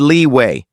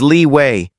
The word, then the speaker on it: Li Wei: "You said Li Wei. It's Li Wei. If you're going to defend him, at least say his name right."